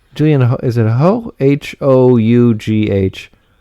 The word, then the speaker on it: Hough: Hough. I know it's one of those where it looks differently than how it sounds.